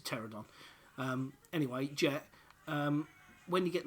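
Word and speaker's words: Pteranodon: It's a silent P anyway, it's a pterodon.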